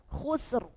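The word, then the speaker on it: خسر: Jadi bukan syahr syahr ditebalkan khusr khusr ahah ditebalkan khusr ahah gitu ya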